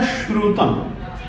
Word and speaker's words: श्रुतम: देखिए आप गौर करना अल्प श्रुतम यह भी श है और परिहास धाम यह भी स है मगर यह दंत है और इसमें जो श